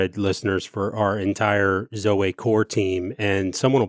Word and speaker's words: zoe: in another conversation, but I just remember it's spelled Z-O-E. And I only used it for a short time because people called our ministry initiative Zoe.